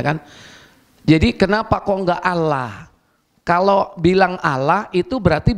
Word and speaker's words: Allah: Makanya anak TK kita meskipun tulisannya A-L-L-A-H tetap bacanya apa? Allah. Ya kan? Tidak mungkin Allah. Tapi kalau Nasroninya itu dari Timur Tengah, insya Allah tetap sama seperti kita.